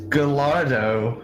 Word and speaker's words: Gallardo: different state that's what's happened to Maryland its gallardo language it's good to know that in the future maryland gets evicted and has to crash on Pennsylvania's couch Joe you can't make the gallardo joke cuz nobody will understand except to you